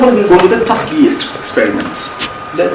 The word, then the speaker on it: Tuskegee: So, first of all, we'll go to the Tuskegee experiments. Did I pronounce that right? Tuskegee?